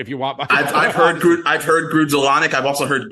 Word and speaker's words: Grudzielanek: It is Mark Grudzielanek.